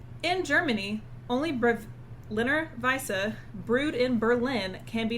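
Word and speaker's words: Weisse: uh w's are v's if there's an e i it's pronounced i if it's i e it's pronounced e who knew you'd be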